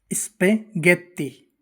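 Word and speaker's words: spaghetti: यदि जी के बाद आका आता है यानी एच आता है तो जी का उच्चारण ग होता है। चाहे एच के आगे आई तथा ई ही क्यों ना हो।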